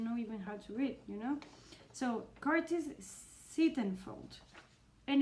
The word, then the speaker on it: Sittenfeld: go for eligible by Curtis Stephen felt stiff sittenfeld sittenfeld I've liked the other in the the video I've said it wrong like eight times and right now here again I don't know you know so Curtis sittenfeld and it's a retelling about Pride and Prejudice